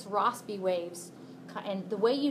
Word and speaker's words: Rossby: I think the S is soft in Rossby waves, pronounced soft.